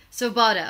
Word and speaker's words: Svoboda: make love great again you are Jay Stevens Bovada am i pronouncing your last name correctly so bought it okay it's say what kind of a name